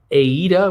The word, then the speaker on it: AIDA: next may we know that uh that uh aida which is spelled a ida uh the german it's a